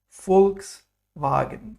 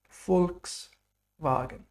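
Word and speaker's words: Volkswagen: here v is foul like fur in the famous car company folks wagon people's car folks wagon very good then we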